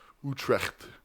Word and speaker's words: Utrecht: And then I also was in Utrecht. Apparently, that's how it's pronounced, with a little bit of loogie at the end.